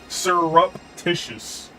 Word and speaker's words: surreptitious: I had to look it up and look at the actual pronunciation because I was just like, I'm reading what you're putting down, but it's still spelled like surrep or surrep, but it's surreptitious.